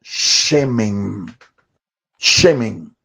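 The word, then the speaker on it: שמן: unción se traduce del vocablo shemen. Shemen. Shemen es un vocablo hebreo que se escribe con las letras Shin, Men y Nun. Shin, Men y Nun. Shemen.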